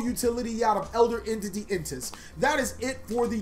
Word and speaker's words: N'tss: I know I've said this card probably 5 million times. The fact that before the video is actually how I figured out how to say it, I was like, Intis. Oh, interesting. I've been calling it Ints the whole time and nobody fucking corrected me.